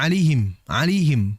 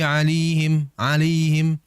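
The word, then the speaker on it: عَلَيْهِمْ: Beberapa kali kami dengar ada yang membaca alihim. Karena saking cepatnya mungkinnya membaca, atau wallahualam, yang pada intinya dia seakan-akan membaca lam dengan maksur, dengan harokat kasrah. Ghairil maghdubi alaihim. Karena kurang jelas dalam pengucapan harokat. Maka oleh sebab itulah jelaskan harokat lamnya. Alaihim. Ya, dijelaskan.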